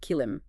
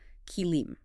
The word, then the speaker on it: kilim: You'll often hear it called kilim, but the pronunciation is more like kilim. Emphasis on that first part, key kilm.